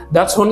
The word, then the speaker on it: Dachshund: Dan sebenarnya nama Dachshund-nya Dachshund ya, bacanya adalah Dachshund. Dachshund itu terdiri dari 2 kata Jerman ya, Dach itu artinya adalah badger, dan Hund itu artinya adalah anjing atau hound ya.